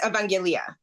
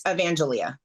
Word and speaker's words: Evangelia: say your name um in Greek it's evangelia in English it's evangelia okay all right so